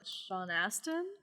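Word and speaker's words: Sean Astin: i don't want to steal it in case sean aston is that how you pronounce his name yes um the guy who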